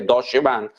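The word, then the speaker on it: Deutsche Bank: Hay otra compañía que se llama Acadia Pharmaceuticals, cuyo banco de inversión Deutsch Bank se pronuncia, creo que Dodche Bank.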